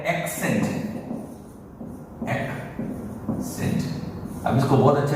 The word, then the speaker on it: Accent: ये जो है वो है एक्सेंट, एक्सेंट। अब इसको बहुत अच्छे तरीके से पहचानने के लिए बोलूंगा, ह्यूंडई एक्सेंट की कार आती है, ह्यूंडई एक्सेंट। लोग उसको क्या बोलते हैं? Hyundai एसेंट।